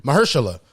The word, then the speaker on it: Mahershala: They said now Mahershala, I can never say his name. Mahershala. I was about to call that man Marjella again. Marjella. It's like no.